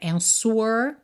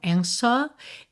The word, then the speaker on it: answer: fala answer, ou seja, a gente não pronuncia esse w mesmo com som de u, né? Answer, tá? Então, answer e poderia ser answer, mas como ele não enrola o r, answer.